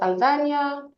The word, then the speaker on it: Sanzania: So my name is Sanzania. The N is pronounced like a Y.